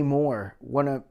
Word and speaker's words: Mohr: And I heard one where with Jay Moore.